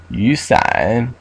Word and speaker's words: 雨伞: Yusan. Okay. Pronounce the second tone really is third tone, then third tone.